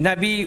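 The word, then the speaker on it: نبي: यह नाफी का पाठ है; वे 'नबी' का उच्चारण हम्ज़ा के साथ करते हैं, लेकिन बार-बार उपयोग के कारण हम्ज़ा का उच्चारण नरम हो गया है।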